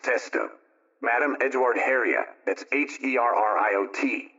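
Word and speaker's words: Testout: Madame Caroline Testu, that's T-S-T-O-U-T, pronounced Testo.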